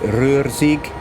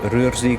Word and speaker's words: Ruhr-Sieg: i pronounced that right roarsig s-i-e-g roarsig line i think so mind you that's only one syllable each you know you know